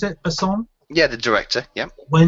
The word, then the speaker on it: Besson: Is that how you pronounce it? Besson?